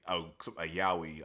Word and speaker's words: yaoi: case of Twilight Out of Focus, it's a yaoi. That's how you pronounce it.